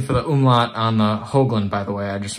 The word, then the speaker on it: Höglund: get a new teacher they would always pronounce it hogland and i don't really like that uh it it has nothing to do with pigs so hoagland is what i stuck with and it actually